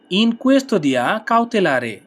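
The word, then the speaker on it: in custodia cautelare: সম্প্রচারে পরের শব্দ রিমান্ডে রিমান্ডে এর ইতালিয়ান হবে ইন কুয়েসদিয়া কাউতেলারে ইন কুয়েসদিয়া কাউতেলারে ইন কুয়েসদিয়া কাউলারে ইন কুয়েসদিয়া কাউতেলারে ইন কুয়েসদিয়া কাউতেলারে অর্থ রিমান্ডে ইন কুয়েস্তদিয়া কাউতেলারে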